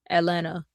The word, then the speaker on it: Atlanta: And then Atlanta, they're like, the T is silent in Atlanta. I ain't never heard of a silent T. Atlanta.